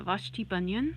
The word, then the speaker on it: Vashti Bunyan: because I was listening to a lot of Vashti bunyan that's her name hang on I need to actually make sure that's right because I can't be mispronouncing clipless named yeah Vashti bunion I was listening to a lot of her